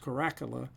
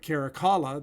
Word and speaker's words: Caracalla: ruler in the severus line uh uh carrick caracalla you may also hear it pronounced corracula uh but caracalla the tertullian states at a pamphlet that caracalla